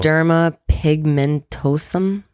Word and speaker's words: Xeroderma pigmentosum: Xeroderma pigmentosum. Good. Very good. That's exactly how it's pronounced.